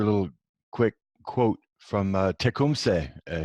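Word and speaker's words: Tecumseh: little quick quote from Tacoma say he's actually the proper way to pronounce it is check whom say and he was Shani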